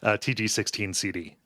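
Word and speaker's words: TG-16 CD: intro to Ys, book 1 and 2 on TIG 16 Sid. TG. Oh, you're making fun of me. No, that's how you pronounce these. TG16 CD.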